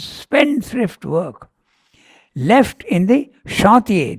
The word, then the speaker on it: chantier: work, left in the chantier, this word has to be pronounced in the French way, you are right, chantier, of the bottomless world, and stolen by the robbers of the deep.